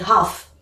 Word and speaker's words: half: Oui, le demi, ça s'écrit half, comme ça, avec un L, mais en fait, on ne prononce pas, on dit half.